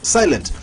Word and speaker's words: Sylent: Silent. Yes, boss. Is Silent your name?